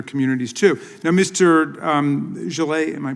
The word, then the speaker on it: Jalloh: um Jalloh, am I pronouncing your name right?